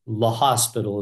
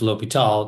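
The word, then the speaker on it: L'Hôpital: So it's La Hospital is what it looks like, but it's pronounced L'Hopital. It's a French guy.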